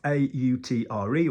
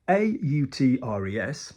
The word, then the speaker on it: autre: um or a utre other is spelled a u and everywhere else in French that you see a u is o o like o Cafe you know a cafe Olay for example we don't say yeah it's just with